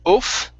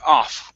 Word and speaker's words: off: let's go let's go the word off right here instead of oof okay so how much better off we were try that